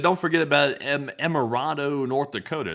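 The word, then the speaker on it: Emerado: He said, "Don't forget about Emirado, North Dakota. It's pronounced Emirado, FYI."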